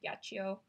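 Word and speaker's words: Yachiyo: I love this brush I pronounced it yeah she oh you can also pronounce it yeah geo hand woven wicker and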